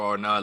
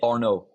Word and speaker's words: Arnaud: up just just say Arno no no D don't pronounce the d I told you French